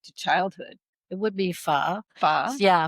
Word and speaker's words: pho: It would be pho. Pho? Yeah, pho is a beef noodle soup, but they can also make it with chicken.